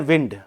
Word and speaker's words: wound: उसकी second form होती है WOUND, उसका प्रोनाउंसिएशन होता है वाउंड, वाउंड, ठीक है। एक शब्द और होता है WIND, वो एज अ नाउन मतलब हवा, उसको बोलते हैं विंड।